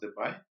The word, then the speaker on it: Debye: So his actual birth name is Petrus Josephus Wilhelmus Debye, it's pronounced Debye in Dutch.